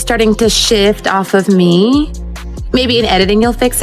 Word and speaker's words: Meghan: I feel like the focus is starting to shift off of me. Maybe in editing you'll fix it. People were saying, meh. It's not meh. It's pronounced me. The H is silent.